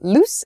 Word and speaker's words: loose: is loose and lose loose and lose you can hear maybe the the difference in vowel sound loose and lose so loose is an